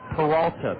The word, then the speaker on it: Peralta: including White Cap players that I am to pronounce his name Peralta p e r a l ta a squibber